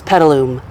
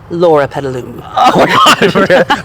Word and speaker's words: Loropetalum: So, everyone up here at Covington's has probably heard these pronounced a million different ways from customers. That is correct. That's why I'm going to let you say it correctly. The name is loropetalum, loropetalum.